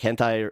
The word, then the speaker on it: hentai: The fact hentai. that major right, like that's how you like that's literally how you pronounce it, right?